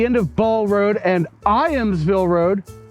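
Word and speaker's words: Ijamsville: All right, so I have stopped at the end of Ball Road and Iamsville Road. The J is silent, and you don't have to put the side stand down like I have, but I did it anyway.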